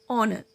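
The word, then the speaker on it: honour: honest, आवर, ऑनर, इन सभी में H silent है, लेकिन कहीं कहीं पर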